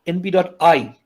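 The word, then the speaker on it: np.eye: So I'm not sure everybody here knows this command in NumPy, but NumPy has a command called np.I. By the way, EYE, that's meant to be pronounced I.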